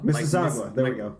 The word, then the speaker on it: Mississauga: Mississauga. Mississauga. There we go. Mississippi with aga in the middle, at the end instead of ippy.